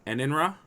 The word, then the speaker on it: Enenra: Enenra? Yes. Perfect. I got it. Woohoo! I hope I'm pronouncing it right because it's actually Japanese in origin.